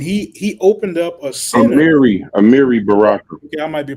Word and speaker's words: Amiri Baraka: Amari Baraka, right? And he opened up a center. Amiri Baraka. Okay, I might be pronouncing it wrong.